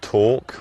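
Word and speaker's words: Tawk: I recommend Talk, which is spelled T-A-W-K, as the live chat function.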